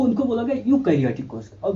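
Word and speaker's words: eukaryotic: अब इनको एक अंतर और आप देखिए, यूकैरियोटिक यानी कि यू होता तो ई है स्पेलिंग, लेकिन आप यू कह लीजिए, वाई कह लीजिए, वाई।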